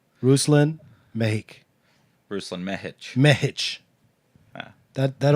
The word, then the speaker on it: Mehic: So my last name turns into the American pronunciation Mehic.